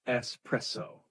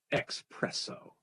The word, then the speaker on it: espresso: Make sure you pronounce it espresso, not espresso.